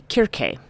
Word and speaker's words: Kirke: And the subject of this week's talk is going to be Kirk. Uh sometimes pronounced in sort of our western parliament as Cersei.